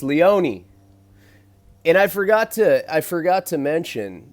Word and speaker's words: Leone: Everyone always pronounces my name wrong. It's Leone. Yeah, Leone, he's like some white boy.